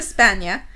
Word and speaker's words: Spagna: You don't pronounce the G. No. It's like Jesus. Bologna. Oh, Jesus. Piazza di Spagna, but slips out at the Palazzo Sanfredo.